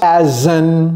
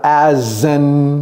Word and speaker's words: an: Donc, he works as an. Et vous voyez la liaison que j'ai fait là. As an.